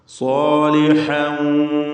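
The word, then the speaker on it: صَالِحًا: സാലിഹ, സ്വാദിനും അലിഫിനും തഫ്ഖീം കൊടുക്കുക, തടിപ്പിച്ച് ഉച്ചരിക്കുക. സാലിഹൻ വലാ യുലഖാഹാ.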